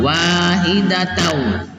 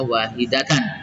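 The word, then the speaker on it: وَاحِدَةً: Itu juga idgham bi gunnah masuk dengan dengung, ummatau wahidatau, sama wahidatau, tidak dibaca wahidatan.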